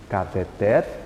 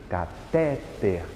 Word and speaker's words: cateter: de pronúncia por exemplo cateter que é uma oxítona pode circular o ter aí na Postila de vocês cateter é uma oxítona mas costumeiramente a gente diz como cateter catéter e não cateté cateté é